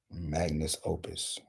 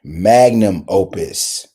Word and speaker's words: magnum opus: what is it it's I lost the word Magnus Opus mag mus Opus am I saying it right okay there we go magnum opus okay a large and important magnum opus yeah